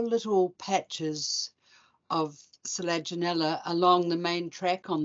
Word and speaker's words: Selaginella: Next is Selaginella. I can never say that one. Does anyone want to jump in and tell me how to say it properly? Selaginella.